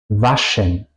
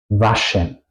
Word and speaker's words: waschen: La SCH se pronuncia siempre juntos en alemán y se pronuncia como sh. Si quiero callar a una persona, sh, así se pronuncia. Como por ejemplo, Schuhe, Fisch, waschen, waschen, lavar, Fisch, es, Schuhe, zapatos.